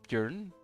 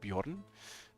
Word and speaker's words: Björn: to be pronounced as Björn, and some want it the Dutch way, like Bjorn, but that's not very often.